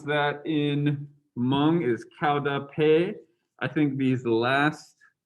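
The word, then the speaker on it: qaug dab peg: even fall down the hmong term for epilepsy pronounced cow dappe so why is it called spirit catches you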